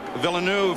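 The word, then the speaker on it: Villeneuve: alongside him chville nef by the way the pronunciation has changed at the request of Jack himself and uh of other members of his teams I know we've been calling his uncle jacqu villanu for years but this is the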